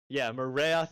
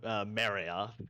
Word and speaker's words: Marayoth: I keep on Marayoth is the right pronunciation. We keep on wanting to call them Marioth because that like feels more. I think that's the more intuitive English pronunciation, but it's not the